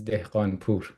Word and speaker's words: Dehghanpour: My first name is and last name is Dean Pur.